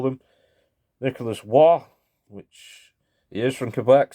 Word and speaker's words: Roy: Nicholas Waugh, which he is from Quebec, so if you see Roy and he's from Quebec, you say Waugh.